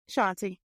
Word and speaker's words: Shawnti: So Shontae, I want to And am I pronouncing your name right? I forgot to ask you. Is it Shontae? Shontae.